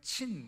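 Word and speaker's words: Zin: 그 다음에 여기 와일드니스 오브, 이거는 친 이렇게 발음되죠. 그래서 요 TS라고 쓰기도 하고 또 어느 영어 표기는 Z죠.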